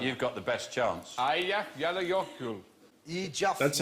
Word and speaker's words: Eyjafjallajökull: And I think, actually, the way you're supposed to pronounce it is... Hutch. It's Eyjafjallajökull. Leokodl.